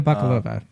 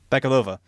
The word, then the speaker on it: Bakalova: I think this is a really, really touching performance, and that's no disrespect to Maria Bakalova, or how you pronounce her last name? Maria Bakalova. Bakalova, who I think is probably the most memorable